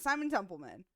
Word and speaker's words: Simon Templeman: I pronounce his name I always say his name wrong Simon Temple that's right Simon templeman yeah Simon Temple man amazing voice actor such